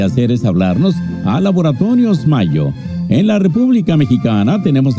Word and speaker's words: Mallo: Les saludan Amparo e Imelda, las jilguerillas, para decirles: aquí donde canta el gallo está Laboratorios Mayo, y Mayo se escribe como gallo, LLO, Laboratorios Mayo.